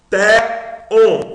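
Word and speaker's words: θεόν: Té-on. Você daqui tem a sílaba forte. Olha aqui o sinal de acentuação. Então você lê on mais forte. Então, té-on. Té-on. Té-on mais forte.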